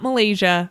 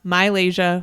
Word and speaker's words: Mylasia: And most recently, we've gotten corrections from Mylasia Fulwiley, not Malaysia, Mylasia Fulwiley at South Carolina.